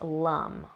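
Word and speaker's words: lam: So it's spelled L-A-M, but it's pronounced lum. Okay, so you just intone that, usually kind of low in the body, like lum.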